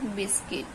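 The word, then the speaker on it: biscuit: बाद you silent letter यदि यू के बाद कोई वल आ जाए ए ई आई ओ यू तो य हमारा जो साइलेंट होता है जैसे की गिटार ड गस गेस्ट गाइल लार्ड मिल्ट सॉरी गिल्ट और बिस्किट तो इसमें क्या हमारा जो यू है हमारा साइलेंट है सब में हमारा यू क्या है साइलेंट है यू के बाद ी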